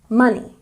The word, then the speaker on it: money: Money has a stress on the first syllable. Money, money.